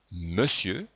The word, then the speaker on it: monsieur: Dans monsieur, on entend bien le son E, mais on écrit ON.